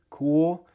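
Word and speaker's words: Kühl: The brand is cool. That is how you pronounce it.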